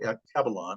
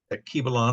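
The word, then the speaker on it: Alkebulan: But I've come to appreciate Akibalon, I guess is the correct way to pronounce it. Akibalon, I've heard it pronounced that way.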